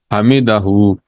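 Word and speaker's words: حمده: मन का मतलब है जो या वो सम्लाहु लमन हमीदू हमीदा हम पढ़ते हैं इसको क्योंकि आखिर में हु साइलेंट है लेकिन हु भी है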